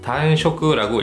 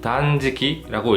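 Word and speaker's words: 断食: 이것을 일본어를 좀 공부하신 분들이라면은 단쇼크라고 읽기 쉽지만은 이 한자는 단지키라고 읽습니다. 같은 한자인데 쇼크라고 읽지 않고 지키라고 읽었네요.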